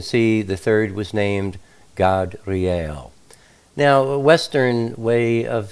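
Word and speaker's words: Gadreel: generally you would say gadriel or gabriel the way it's spelled but um you know back in those days ancient times the a is always pronounced ah so it's god real just so that you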